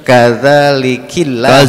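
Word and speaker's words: كذلك الله: Qalat Rabbi anna yakunu li walahu walam yamsasni yamsasni bashar qala kadzalika Allahu bacanya kadzalikillah.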